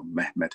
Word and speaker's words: Mehmet: When the Ottoman Sultan, known as Muhammad or Mehmet as the Turks pronounce it, the second, also known